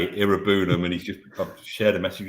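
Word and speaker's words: Iroegbunam: So Tim Irobunam, I believe it is, the G is silent, starts kind of out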